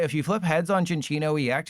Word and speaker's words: Cinccino: It is indeed pronounced Cinccino, not Sinccino.